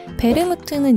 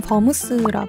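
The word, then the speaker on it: vermouth: 가양 와인은 베르무트 있니다 베르무트는 이탈리아식 발음이고 영어로는 버무스 하죠 와인에 향숙 주니퍼베리 정향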